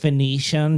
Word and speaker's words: Phoenician: Actually, it's pronounced Phoenician, Joseph.